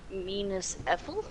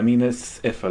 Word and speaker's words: Minas Ithil: Minas Ethel? Yeah, Minas Ithil.